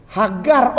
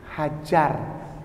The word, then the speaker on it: Hagar: ini Abraham Asir yaldah hagar Oh ibundanya ini ini ibundanya namanya ibunda Siti Hajar Cuman mereka tidak ada je jadi pakainya ke gimel jadi bacanya hagar bukan hajar ya oke Hamid Rid